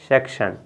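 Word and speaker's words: section: इसका उच्चारण करेंगे शेक, आधा का रहेगा, फिर शन, सेक्शन।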